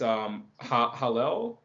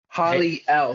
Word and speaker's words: Hallel: It's Hallel. Holly L. So Holly and Yep. Holly L. Okay. Holly and an L at the end.